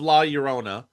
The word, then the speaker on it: La Llorona: So Revenge of La Llorona, um, that's how you pronounce it, comes out on April 9th, 2027.